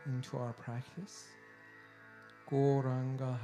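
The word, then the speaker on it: Gauranga: to add the mantra goranga into our practice goranga has four syllables so these wonderful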